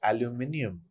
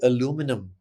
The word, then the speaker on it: aluminium: To give you some glaring examples and where the spelling and pronunciation is different in British English, and what we say in India is aluminium, That's correct. Yes. but Americans say aluminum, and they spell it